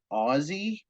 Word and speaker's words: Aussie: right, and then oops, nobody thought to ask the Australians how to pronounce Aussie. yeah, And we just found out 12 seasons in that it's Aussie.